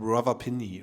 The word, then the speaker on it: Rawalpindi: You are from Rawalpindi, right? Yes. Did I pronounce that right?